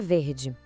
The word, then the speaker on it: vert: Uma bolsa verde. Como o saque, que a bolsa é masculino, a gente diz ver. Ouve com atenção o final. Ver. O T fique em silêncio.